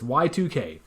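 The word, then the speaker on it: YIIK: 2k a postmodern RPG why two eyes k so yeah people mispronounce it as a long time Nick but it's y2k and man this game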